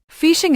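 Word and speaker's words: phishing: Fishing is pronounced like fishing.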